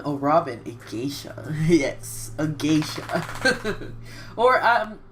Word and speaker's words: geisha: Robin acacia yes a Geisha or some people say geyser but I pretty sure it's pronounced geisha or simply around those lines oh look at Zoar